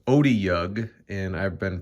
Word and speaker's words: Otyugh: just learned on D&D Beyond that it's actually pronounced Otyugh, and I've been pronouncing it Otyugh.